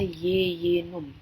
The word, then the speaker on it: jejunum: kedua adalah Yeyen Um meskipun tulisannya jejunum tapi kita Bacanya adalah Yeyen Um ini adalah bagian paling